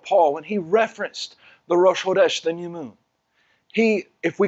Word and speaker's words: Rosh Chodesh: the Abrit, except for in Hebrew it is pronounced Rosh Chodesh.